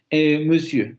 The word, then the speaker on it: monsieur: Monsieur, por eso se escucha de esa manera, monsieur, monsieur, monsieur, porque se redondean los labios. Si no, se escucha algo así como monsieur, monsieur, monsieur, monsieur, y no se pronuncia así.